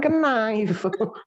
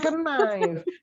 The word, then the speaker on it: knife: Jangan knife. Ya Allah, jangan knife. Bahasanya adalah knife. Sama Knife. seperti knife.